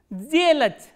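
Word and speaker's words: сделать: This voiceless consonant will be pronounced as its voiced counterpart, which is z. So, how will you pronounce this word? Zelach, zelach.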